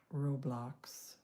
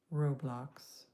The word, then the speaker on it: Roblox: It's pronounced Roblox. Roblox.